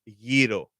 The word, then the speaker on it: gyro: I said it right. Gyro. Gyro. There you go. I didn't want to say gyros because gyros is not the right way to No, say it.